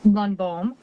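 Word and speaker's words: Lundbohm: Lunbomb. First name is spelled.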